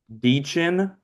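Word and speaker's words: Dichen: how to pronounce it hold up dein I know that's how you say your first name dein okay those two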